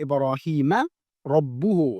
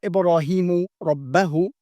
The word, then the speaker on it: إِبْرَاهِيمَ رَبُّهُ: And so that's why the correct way to say it is وَإِذِ ابْتَلَى إِبْرَاهِيمَ رَبُّهُ, not Ibrahimu Rabbahu, you see, بِكَلِمَاتٍ فَأَتَمَّهُنْ.